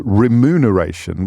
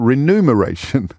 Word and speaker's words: remuneration: before I realized that it was remuneration with the m before the N rather than renumeration with the N before the M because